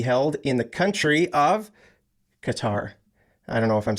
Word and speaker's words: Qatar: the first syllable Kata I put the stress on the second syllable Qatar um but some people just say cutter cutter just sort of like